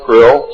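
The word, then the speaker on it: Krll: His name and title was His Omnipotent Highness Krill, pronounced Krill, spelled K-R-L-L-L or C-R-L-L-L.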